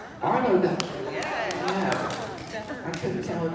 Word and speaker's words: Arlo Guthrie: brightest folk stars, including, I'm not going to pronounce the first one, but Ariel Guthrie? Arlo Guthrie.